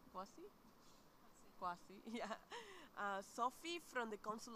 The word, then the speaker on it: Kwasny: She it's pronounced correctly? Kwasny? Kwasny, yeah.